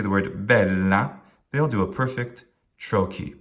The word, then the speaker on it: bella: Let's do bella, bella. Well, the first syllable, bel, we have 2 L's, and we usually will, in fact, we'll certainly always divide those L's, not have them both in the same syllable if we can help it. The la is short. The bel is long, not because the vowel is long, but because the syllable ends with a consonant.